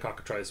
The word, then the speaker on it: Cockatrice: Cockatrice. It rhymes with smock, okay.